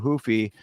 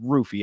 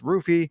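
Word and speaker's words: Ruffy: me this is hoofy versus King Green it's actually rufy I keep doing the the the uhh Portuguese pronunciation but he pronounces it with the r and it's not even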